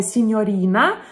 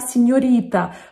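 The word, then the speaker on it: signorina: с испанским языком и итальянское слово сеньорина произносит как сеньорита потому что видимо ну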